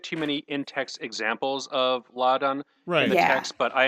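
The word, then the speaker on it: Láadan: Did we know there's an accent on the first? Yeah, it's supposed to be lad.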